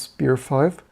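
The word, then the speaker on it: SPIR-V: the new spear V what was the intended pronunciation what do I always say I always say spear V but I believe they want to pronounce spear five um for this buar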